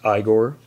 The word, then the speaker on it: Igor: And then, last but not least, we've got Igor, pronounced Igor, played by Marty Feldman.